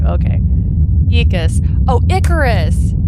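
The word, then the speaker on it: Aeacus: Ecus. It's pronounced Ecus. Okay. It's also spelled Eacus sometimes too. Okay. Ecus.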